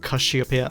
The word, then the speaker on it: Casiopea: Perhaps you can’t tell but Casiopea, or "Kashiopea" (Japanese pronunciation), is one of my favourite bands.